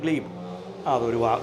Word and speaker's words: glebe: അതാണ് ഗ്ലീബ്. ഒരു കാര്യം ഓർത്തിരിക്കണം, ഗ്ലീബ് എന്നാണ് പറയുന്നത്.